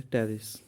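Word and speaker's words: Pteris: Which category टेरिडोफाइट्स सी P silent है टेरिस flowering plant तो आपने इन सब में बताने हैं वह स्ट्रक्चर्स जो गेमिटोफिडिक जनरेशन में को रिप्रेजेंट करते हैं।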